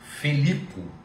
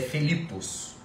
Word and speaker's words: Filipos: uma letrinha falando rápido às vezes eu pronuncio Felipo Tá mas é fipos a cidade de fipos uma característica de filipos